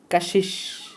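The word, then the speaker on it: کشش: সামনে নতুন শব্দ কাশিশ, উচ্চারণ হবে কাশিশ, কাশিশ অর্থ হচ্ছে আকর্ষণ।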